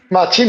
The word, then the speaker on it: Matxin: Oye primero que nada Dime si se estoy pronunciando bien Tu tu nombre machín está bien que es como me llama todo el mundo machin es la forma